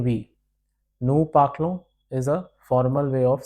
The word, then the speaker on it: parlons: Nous parlons. Vous parlez. Ez is a. On is pronounced as on.